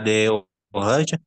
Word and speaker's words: des orages: Il y a des orages. On va faire la liaison.